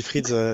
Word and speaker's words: Freedz: Ouais, c'est ça. On dit Frieds, effectivement. Frieds, c'est une plateforme de gestion des factures fournisseurs.